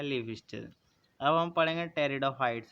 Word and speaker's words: Pteridophytes: Plant होता है वो टेरिडोफाइट्स होते हैं। इसमें जो पी होता है वो साइलेंट होता है।